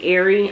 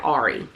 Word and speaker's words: Aerie: This is an Aerie. I feel like, so I do watch my hauls, and I know that I've been pronouncing this brand wrong. I've been calling it Ari, and it's called Aerie, but just cut me some slack.